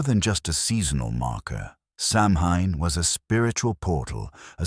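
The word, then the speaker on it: Samhain: candy, it was an ancient Celtic holy day pronounced so in marking the end of the harvest and the start of the new year. But more than just a seasonal marker, Samhine was a spiritual portal,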